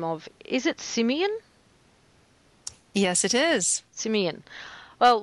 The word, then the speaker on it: Simion: and I was wondering whether there was a completely different pronunciation of that but it is Simeon yes Simeon well that's